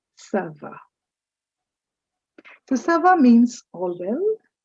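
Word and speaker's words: ça va: Understand that C is pronounced as s and not G. So this word is not ga, it is sava.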